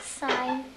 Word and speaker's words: sign: decide about the word sign? Was there any letter that was tricky or silent in there? G. Very good. How many of you agree with that? Sign, the G is silent.